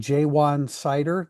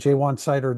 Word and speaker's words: Ja'Juan Seider: Dame's new defensive coordinator, replacing Al Golden, and Jaywan Seider. That's the pronunciation. I gave a pronunciation in today's Thursday Thoughts, just so people could remember that. But Jaywan Seider, the assistant head coach and running backs coach